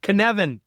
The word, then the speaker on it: Cynefin: right, is it the Cynefin? Cynefin. It rhymes with Kevin.